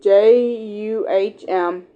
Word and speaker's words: jambalaya: But it's pronounced JUHMBUHLAHYUH.